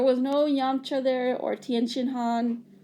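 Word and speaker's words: Tien Shinhan: There was no Yamcha there, or Tien Han, or Ten Han, which is the correct way apparently to say it in Japanese, or Chaozu, or Chaozu, right?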